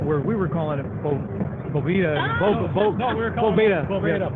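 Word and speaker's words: Bóveda: That's a Spanish word. It's not Boveda, you dummy. Yeah, it's Boveda.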